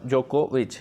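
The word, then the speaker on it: Djokovic: पर editorial on Novak जोकोविच जो यह साइलेंट है जो को भी सीम्स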